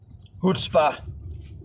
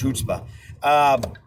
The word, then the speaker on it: chutzpah: really the force and the influence and the chutzpah. Is that the right way to pronounce that word? Hebrew word, chutzpah? I think it's chutzpah.